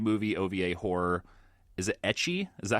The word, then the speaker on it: ecchi: Is it ecchi? Is that how you pronounce that, Dave?